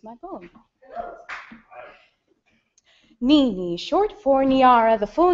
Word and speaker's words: Niara: of my name tags, Niara looks like Niera, Niera, Niara, Niera, Nier, and sometimes trips slowly and uncertainly out of mouths like Niagara, as if I've misspelled my own name without a G.